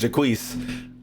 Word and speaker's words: Jaquise: they just called him Jock. Nigga, this shit is pronounced Jaquise. I'm sorry. This name is very prominent in the black community, and this shit is not pronounced Jock. This shit is named Jaquise.